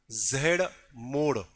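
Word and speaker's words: Z-Morh: जिसको कहा गया है जेड मोड। भले वो स्पेलिंग है मोर करके, बट उसको हम मोड बोलते ना, जेड लाइक ऐसा ऐसा मोड़ना, ठीक है।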